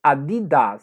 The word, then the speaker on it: Adidas: maneira correta adidas então o jeito correto de pronunciar na língua nativa é adidas oi aqui é a